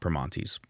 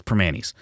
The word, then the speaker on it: Primanti's: Because the one thing I think people know is Primanti's. That's how you say it here. It's not Primanti's, even despite how it looks. And that's whatever. It's Primanti's.